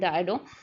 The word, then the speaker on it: Dido: आई एम so sorry for the pronunciation between डीडो एंड डायडो, दो both the pronunciation are okay with that.